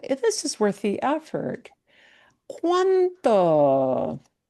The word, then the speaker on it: cuánto: English ear to hear, because it will not be pronounced as cuanto. Cuanto. It'll be cuanto. cuánto. That T is less explosive versus, and you will not hear it as cuando.